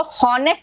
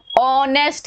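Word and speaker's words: honest: नहीं, इसकी आवाज देखो, हम इसको हॉनेस्ट रीड नहीं करते, हॉनेस्ट रीड करते हैं क्या, नहीं ना, हम इसको कैसे रीड करते हैं, इसका प्रोनाउंसिएशन क्या है, ऑनेस्ट है, अ अ अ की आवाज आ रही है, अ आ ई ई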